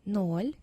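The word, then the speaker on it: ноль: let me read them for you zero is null in russian one is two is three is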